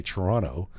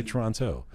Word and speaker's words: Toronto: here because they say Toronto, but somebody from outside of here, Toronto, right? But that's the way I say it. I like to say Toronto. I'm from Toronto with the T, but yeah.